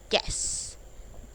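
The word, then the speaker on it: guess: गैस, तो उसमें भी GES की तरह प्रोनाउंस लेता है, उसका मतलब अनुमान लगाना।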